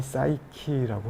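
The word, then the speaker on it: Psyche: 추후에 푸시케는 그 정신, 영혼의 여신이 또 되어요. 그래서 올림푸스에 올라가서 여신까지 되어서 영생을 누리게 되는데, 이 푸시케는 영어 발음이 사이키라고 하고요.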